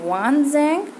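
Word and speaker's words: Xuanzang: Fine, and यहाँ पे शुएनज़ांग यू कैन से वानज़ांग, ठीक है, प्रोनाउंसिएशन में भी डिफर, राइट?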